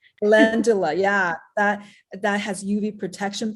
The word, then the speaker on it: Calendula: Calendula. Calendula, yeah, that has UV protection properties.